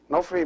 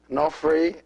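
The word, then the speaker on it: ⲛⲟϥⲣⲓ: this is not free no free means high and the word no free consists of two syllables and we are going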